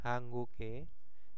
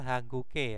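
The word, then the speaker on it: 한국의: ya hanguke cuasik munwa jadi hangguke di sini bacanya hangguke Ya kenapa e di sini berada di paling belakang maka dibacanya adalah e Nah kalau ada di tengah kata dibacanya adalah i ya ei Jika dia berada di tengah-tengah itu dibacanya I kalau berada di depan ya tetap biasa ei nah seperti itu angguke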